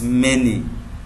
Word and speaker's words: many: This is called the pronunciation of this word is many not money.